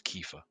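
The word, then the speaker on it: Kiefer: well they did sorry is it Kefir or Kyifer? uh our voice pronounced as Kefir.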